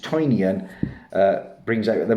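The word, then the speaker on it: Tynion: of course everything james tinian or i think he is pronounced toinion uh brings out at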